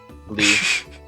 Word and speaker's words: Lee: I believe that's pronounced Lie, but, you know, good try. Nope. Lee.